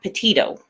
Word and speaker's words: Petito: I've been saying it wrong, and I had a bunch of comments. Say her name right. Well, I didn't know her, so I'm, correcting it now. Petito.